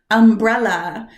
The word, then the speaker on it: umbrella: Do you know the stress is supposed to go on the brow? Umbrella. And I'd been saying it wrong my entire life.